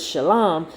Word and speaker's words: Shalom: the root of this word Shalom again phonetically which will be phonetically it would be sh a w l a m sham right um and